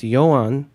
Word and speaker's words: YoAhn: Well, when you go to coffee shop, I say my name's YoAhn. 9 out of 10 people in the coffee shop, they write as a J because they think it's a Germanic. So it has to be J instead of Y.